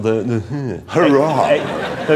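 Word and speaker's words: Huayra: replacement for the zonda it's called the the hurrah so it's spelled h-u-a-y-r-a though you've got a choice now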